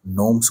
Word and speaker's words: gnomes: তো তোমরা GNOMES নোমস উচ্চারণ হয়, এটা লিখে গুগল সার্চ করলে একটু পাবে আর কি।